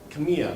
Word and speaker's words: Khemia: So, Khemia, did I pronounce it right? Yeah.